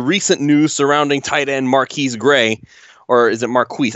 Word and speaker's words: Marquise: So it's actually Marquise. For anybody who's wondering, it's actually Marquise Gray. So we've actually been saying it wrong this whole time.